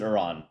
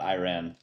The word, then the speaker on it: Iran: I pronounce it Iran, not Iran.